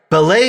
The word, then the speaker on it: Belay: on your business you get the difference right ballet is the incredible organization revolutionizing productivity with their virtual assistant bookkeeping and social media strategist services for churches non-profits and businesses alike that's spelled b-e-l-a-y ballet has people that love bookkeeping and can make